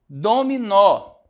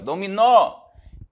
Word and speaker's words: dominó: Dominó. Nó. Olha só a oxítona aparecendo aqui, ó. Dominó. Então, a sílaba tônica, o nó, também vou acentuar.